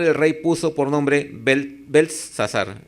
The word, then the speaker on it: Beltsasar: rey puso por nombre Beltsasar. Aquí parece que se pronuncia igual, pero no, es como una T al medio, ¿no? Beltsasar.